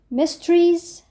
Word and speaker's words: mysteries: الاول مستري يعني لغز مستريز يعني الغاز والاس في الاخر بتتنطق ز يعني بننطقها زست مسترس